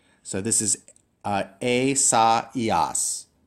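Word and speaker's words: Ἠσαΐας: And remember that because you have these 2 dots, that means you have to pronounce the vowels separately. So this is a, sa, ias.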